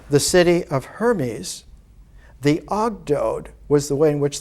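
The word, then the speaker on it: ogdoad: it's called in in the the greek pronunciation of the ancient egyptian it was called the ogdode the eight there were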